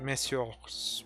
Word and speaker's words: messieurs: It's confusing for me, because monsieur, right there, that's plural, so you would normally not actually pronounce the S, but in the context of it being English, you do pronounce it.